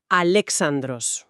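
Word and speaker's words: Αλέξανδρος: La guía nos indica que se pronuncia Alexandros.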